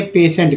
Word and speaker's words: patient: अब बताइए, सोचिए यहाँ पर कि पी से तो पे हो गया, ई से एन से ना हो गया, टी से ट हो गया, लेकिन से के लिए कहाँ कोई वर्ड आपको दिख रहा है क्या? से के लिए तो टी आई से श उच्चारण होता है।